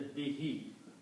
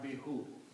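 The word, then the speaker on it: بِهِ: When you combine these then you pronounce this as a behe not be who.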